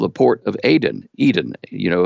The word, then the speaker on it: Aden: called the port of Aden Eden you know it's it's pronounced Aden in the local language but it's the port of Aden so why did they